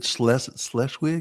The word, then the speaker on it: Schleswig: Is it Schleswig? Am I pronouncing that close to the Danish border.